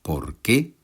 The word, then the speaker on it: por qué: Je pense que cela se remarque à la prononciation. Dans le premier cas, deux mots avec l'accent sur le second : « Por qué ? » Dans le second cas, un seul mot avec l'accent sur la première syllabe : « porque ».